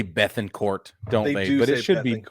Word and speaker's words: Bettencourt: league system Christian Bettencourt they say Beth in court it should be it should be Bettencourt in my mind I don't know why